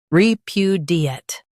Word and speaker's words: repudiate: Re, pu, d, ate, repudiate. Stress pu and keep d light.